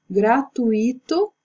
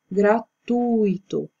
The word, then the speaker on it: gratuito: forma correta é advogado gratuito e a forma correta é gratuito aquilo que diferencia é que porque aqui tá esse acento no i' na verdade a palavra ela não tem acento porém como assento é a sinalização da sílaba tônica ou